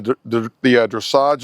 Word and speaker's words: dressage: She is currently, she is dedicated to the pursuit of excellence in the dressage arena.